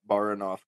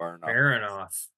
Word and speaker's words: Baranov: So this one is the Baranov Castle. Castle. I don't know why I can't say it. Baronoff.